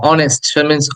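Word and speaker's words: honest: girl অনেস্ট খেয়াল করো এইচ দিয়ে লেখা হলে উচ্চারণ হচ্ছে অনেস্ট অ সরবর্ণ তার আগে আমরা বসাচ্ছি অনেস্ট ম্যান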